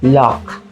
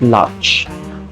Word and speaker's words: Locke: Yes, girl, Locke, not Lodge. Pronounce it like Locke, like the Loch Ness Monster.